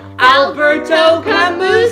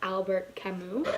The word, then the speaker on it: Albert Camus: Please welcome Alberto Camus. Come on in. Hi. Sit. Oh. My name's actually pronounced Albert Camus.